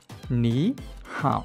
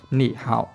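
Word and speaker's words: 你好: Có nghĩa là khi hai thanh ba mà đứng gần nhau thì thanh thứ nhất sẽ chuyển thành đọc thành thanh hai, thì chúng ta sẽ đọc là ní hảo, được chưa?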